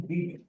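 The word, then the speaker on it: Beebe: shouldn't, I mentioned it was Ashton B. That's spelled B-E-E-B-E.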